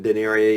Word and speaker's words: Daenerys: danny yes i know daenerys not daenerys i have been saying it wrong daenerys i've been saying it wrong it's daenerys i just say danny